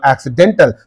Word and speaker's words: accidental: it is no accident when Al is added to that know accidental then what is happening the syllable preceding the suffix is receiving this but in the ordinary accident no it is receiving at the beginning accident you say okay but